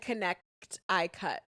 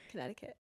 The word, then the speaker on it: Connecticut: And connect eye cut. Connecticut.